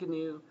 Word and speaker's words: GNU: It's not GNU, you just pronounce it, even though it's an acronym. It's called GNU, and it stands for, it's a recursive acronym, it's funny. GNU stands for, GNU's not Unix. Which is just a joke, but their mascot is like a wildebeest because the word GNU, you pronounce it like this if you know Spanish. It's like there's an ñ, so it's GNU.